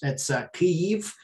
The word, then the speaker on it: Kyiv: in Kiev, the capital, Now it's in Ukrainian, it's Kyiv, but Americans pronounce it Kyiv. But I'm going to keep saying Kiev because that's how I grew up speaking.